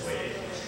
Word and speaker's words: Boyer: a guy named Ernest Boyer, although he pronounces it Boyer, American pronunciation, but it's Boyer.